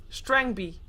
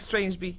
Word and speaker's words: String B: et cetera anyways okay apparently i pronounced strange b's name wrong string b well i look like strange b string b sorry for bastarding your